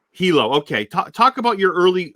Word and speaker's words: Hilo: Am I pronouncing this right? And I know I'm not gonna. Is it Hilo? Oh, it's Hilo. Hilo.